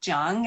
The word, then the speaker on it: Chia: um first name and my last name is c-h-i-a though it's pronounced zhang as if the ch were a j yeah and if i